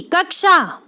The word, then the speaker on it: कक्षा: उच्चारण क्या है तो ऑप्शन सी ऑप्शन सी कक्षा यह सही उच्चारण एक क्यों क्योंकि दोस्तों आपको पता होना